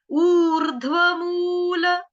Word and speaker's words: ऊर्ध्वमूल: ऊर्ध्व, ये आधा धनुष वाला ध है, आधा ध धनुष वाला है, धनुष का आधा ध। और उसके बाद जो रफार आप देख रहे हो, व के ऊपर रफार जो है वो आएगा ऊ के बाद, ऊर, ऊर, ऊर्ध्वमूल, ऊर्ध्वमूल, ठीक है, ऊर्ध्वमूल।